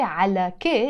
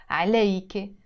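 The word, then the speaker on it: عليكِ: K means you feminine please we don't say Allah K in this case no we will pronounce it I like I care the today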